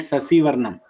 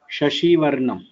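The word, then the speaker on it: शशिवर्णं: It is not Sasivarnam. Shashivarnam. Okay. Shashivarnam Chaturbhujam Prasanna Vadanam Dhyaye. So Sarva Vigna Sasivarnam, both are not same.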